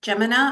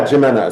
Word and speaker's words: JIMENA: So, tell me about the work that you're doing with Geminina. Am I pronouncing that properly? Yeah, Jimena.